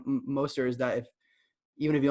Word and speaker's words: Mostert: That's one reason I like Mostert is that even if he only plays 55%